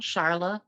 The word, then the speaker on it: Charlya: On Facebook, I go by my maiden name, Charla. Mm-hmm. It's unique. My middle name is unique. So, and my name is spelled Charlya. The Y is silent.